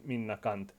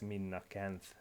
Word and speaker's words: Minna Canth: as equity anyway in finnish her name would be pronounced min nakant but i don't want this video to be flak by youtube profanity filter or something so i will be intentionally mispronouncing her last name throughout the video as min nakanth but obviously use the